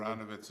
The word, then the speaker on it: Aronovitz: Today is April 14th, and our first interviewee is Aronovitz. Is that correct pronunciation? Aronovitz is fine.